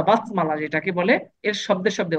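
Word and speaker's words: بسم: আমার হওয়া দরকার ছিল এখানে বি ইসমি, কিন্তু আমরা বি ইসমি না বলে কি বলি? বিসমি। বিসমি, এই আলিফটাকে সাইলেন্ট করে ফেলি।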